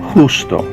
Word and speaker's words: justo: remember that meant righteous the Jay in Spanish is pronounced like the letter H in English justo say that gusto let's say the verse